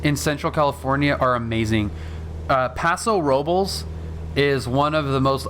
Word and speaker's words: Paso Robles: is is awesome yeah that's kind of how it's pronounced you know i mean it's you could probably say roblace but most people will say paso robles but yeah it's there